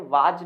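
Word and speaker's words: was: याद रखना है वाज नहीं होता, इसके दो प्रोनाउंसिएशन आप लिख सकते हैं। एक तो आप इसे वाज पढ़ते हैं, वाज, आई वाज, जबकि ये वाज नहीं, इट इज वॉज, है ना।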